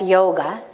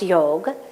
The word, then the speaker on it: yoga: word yoga in Sanskrit what do we say in the west yoga but actually is pronounced yoga literally the Sanskrit meaning